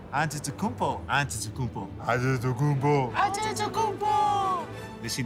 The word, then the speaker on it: Antetokounmpo: We're the only ones that can pronounce our last name. Antetokounmpo.